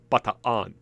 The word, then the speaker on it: Bataan: Americans call this baton, but in Filipino, those two double A's represent a split in syllable, so it's not baton, it's bataan.